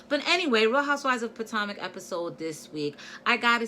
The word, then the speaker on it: Potomac: gave me the phonetics lesson about how to pronounce potomac so now i got it now potomac and what a beautiful city it is i'm